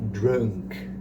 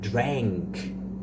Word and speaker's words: drank: No passado, o verbo drink é drank. É como se tivesse um é com acento, né? É, é. É, drank, drank.